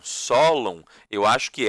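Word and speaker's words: Sólon: Eu falo de forma paroxítona, tá? Esses nomes, mas tem gente que gosta de falá-los, né? De pronunciá-los de forma oxítona. Dracon, Solon. Eu normalmente falo Dracon, Solon.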